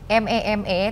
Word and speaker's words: meme: M-E-M-E tapi dibacanya meme.